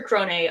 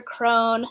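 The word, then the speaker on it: Krone: her at the end it's sister crony um when when they said crony I was like wait that's how they say it in my head it's always when sister crone so I'm gonna have a sister Crone I always thought it was sister throne - yes oh now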